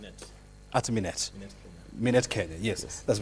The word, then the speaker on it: Minet: General Manager, Managed Medicare at how do you pronounce it? At Minet Kenya, yes, that's right.